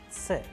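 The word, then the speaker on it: Ц: Alright, the next letter, another very interesting letter which is found in Russian alphabet is known as Ts, Ts. Please pay attention when I am pronouncing the particular and a peculiar sound of the letter.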